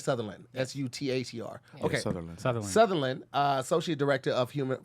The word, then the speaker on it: Sutherland: focused on the Mississippi submarine uh instead Judas Southern sorry Southern you can do it come on land come on come on Jesus so it's pronounced like Sutherland s-u-t-h-e-r okay Sutherland uh associate director of human for Human Rights